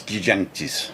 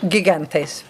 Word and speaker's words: Gigantes: So how do I say los gigantes? Gigantes. So it's two G's, not gigantes and not gigantes. Gigantes.